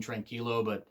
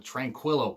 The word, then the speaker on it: tranquilo: Because Naito's really, really good about doing some antics with being tranquilo, and that's how it's said. And I know that JR Southern, he said it wrong, but it's always tranquilo.